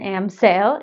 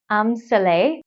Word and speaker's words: Amsale: Well, the first thing I learned looking this up is that I've been saying it wrong. It isn't Amsale, it's Amsale, which is the designer's first name.